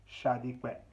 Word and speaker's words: Sadiq: My name is Sadiq, but the last name is pronounced Shadiqwe.